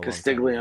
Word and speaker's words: Castiglione: How do you pronounce his name? Castiglione? Castiglione, yeah. Yeah. He's been a Castiglione?